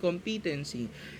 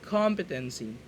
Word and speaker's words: competency: All English majors okay it's not competency It's competency Okay the the stress is At The Beginning the first syllable competency maart tayo e